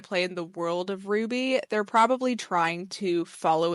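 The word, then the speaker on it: RWBY: like f something something R WB y it's pronounced Ruby I looked it up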